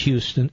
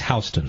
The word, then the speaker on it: Houston: Pronounced Houston, spelled Houston, but it's Houston Street.